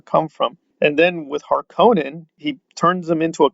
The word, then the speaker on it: Harkonnen: from and then with harkonnen he turns them into a ken doll because now it's harkenin but there's no e that's an o now those things it's